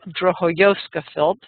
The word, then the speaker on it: Drohojowska-Philp: Drohojowska-Philp. How did I do? Exactly, except the J is pronounced as a Y. Drohojowska-Philp.